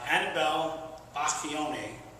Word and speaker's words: Anabel Bacchione: But anyway, Anabel Bacchione is the proper pronunciation of the name.